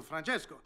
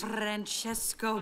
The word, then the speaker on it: Francesco: Francesco Bernoulli. No wonder there's a crowd. Wait, why do you know his name? And don't say it like that. It's three syllables, not 10.